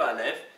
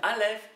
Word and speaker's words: Aleph: Aleph, qui ne se prononce pas, elle est muette.